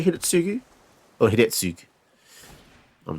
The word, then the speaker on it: Hidetsugu: Japanese words are interesting because it's spelt Hidetsugu, but I think a lot of Japanese kanji and stuff, they miss out the U at the end. So Japanese people say Hidetsugu.